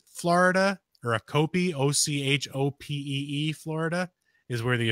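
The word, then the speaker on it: Ochopee: And there is actually an official skunk ape headquarters in, oh God, how do you pronounce it? Achope, Florida, or Achope, O-C-H-O-P-E-E, Florida, is where the official skunk ape headquarters is at.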